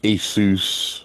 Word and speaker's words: ASUS: Everybody else they're like Asus or whatever.